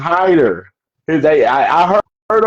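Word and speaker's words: Hiter: don't want to J it's not hitter though it's Hider they I I heard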